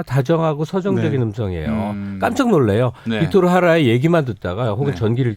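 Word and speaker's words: Víctor Jara: 빅토르 하라. 이 JARA인데 하라고 읽어야 돼요.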